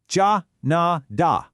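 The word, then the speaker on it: 加拿大: In Mandarin, it's ja na da. Just try saying it out loud. Katna da ja na da. See, it's a remarkably close match.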